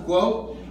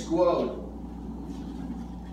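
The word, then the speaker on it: 国: In English, how do you say that word grow or go, or you mentioned several times it's a Guo. grow? What's the letters? It's Guo.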